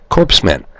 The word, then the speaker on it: corpsmen: It sounds like you'd spell it C-O-R-E-M-A-N. But I found out that Barack Hussein Obama, another one of the wizards the public selected for president, says actually it's corpsmen.